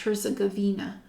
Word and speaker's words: Herzegovina: croatia montenegro north macedonia romania and serbia so herzegovina so that's pronounced pronounced here's a gavina so i i've already known that i'm predominantly